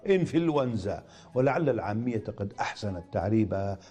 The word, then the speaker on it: إنفلونزا: وللتخلص من التقاء الساكنين ننطقها إنفلونزا، ولعل العامية قد أحسنت تعريبها على فلونزا، واشتقت منها الفعل فلوز يفلوز، فهو مفلوز.